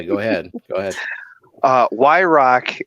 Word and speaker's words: Why-Rock: ahead go ahead uh y rock is how my last name is pronounced but like not how it's spelled it's just some consonants thrown at a wall and whatever drip down is they made into y rock so um a lot i get a lot of and everything like that so um y rock is actually how you actually pronounce my name so when i did